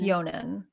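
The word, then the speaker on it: Jhonen: had sels but um so Honan Vasquez right that's how you say Honan is that how you say it's yonan yonan okay yonan Vasquez Vasquez um he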